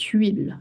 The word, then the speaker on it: huile: I know it's so hard to say, it starts with H. Yes, you would say cette huile.